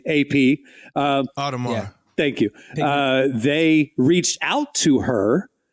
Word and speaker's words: Audemars: I can't pronounce it. French name, AP. Audemars.